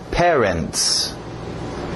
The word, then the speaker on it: parents: Cuidado com este primeiro, A e o E, mesmo som. Pé, ré, ok? Parents, parents, parents. Cuidado que parents parece parentes, mas não é.